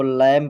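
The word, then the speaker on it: lamb: आया है तो इसको कॉम पढ़ा जाएगा इसको लम पढ़ा जाएगा इसको डम पढ़ा जाएगा और फ्रेंड्स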